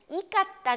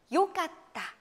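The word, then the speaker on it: よかった: 요 이렇게 좋았다 고 할 과거형으로 말할 때는 이 까딱 아니야 바로 요 가 딱 요 깠다 를 쓴 아는거 그 발음이 달라진다는 거 조심하셔야 되요 자 그 다음에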